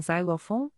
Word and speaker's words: xylophone: Por exemplo, em box, é pronunciado como KS, mas em xylophone, é pronunciado como Z.